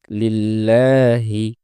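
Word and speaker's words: لِلَّهِ: পূর্বে জের এসেছে এজন্য এই লামটি পাতলা হয়ে উচ্চারিত হবে উচ্চারণটা হবে লিল্লাহি দ্বিতীয় শব্দ এ শব্দে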